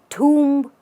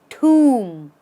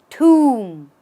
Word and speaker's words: tomb: it do you say tomb or Tom the only thing that is wrong in this is the B this shouldn't be there what should be there